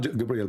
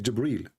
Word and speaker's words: Jibril: here he arrived gabriel it's not gabriel by the way it's jibril even muhammad he got the name wrong so jibreel he arrived he asked